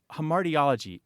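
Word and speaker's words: hamartiology: here's one more okay I'm not sure I'm pronouncing this correctly but it's h mariology h a m a r t i o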